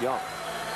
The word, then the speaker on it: Jung: Texas announcers told me by the way it's pronounced young so you but I was familiar with him